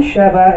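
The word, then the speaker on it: שְׁוָא: All right, The name Sheva is pronounced with a very short A sound.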